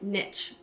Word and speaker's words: niche: elephant in the room i pronounce it niche partially because i'm from texas but mostly because i was always taught the riches are in the niches i only bring this